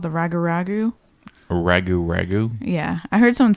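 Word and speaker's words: rougarou: Ragu ragu.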